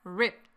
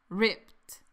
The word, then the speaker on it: ripped: But all the pants in his closet are ripped. Practiquemos la pronunciación de esta palabra un poco más. Ripped. Las letras ED se pronuncian como que si fueran una T. Escucha. Ripped. Ripped.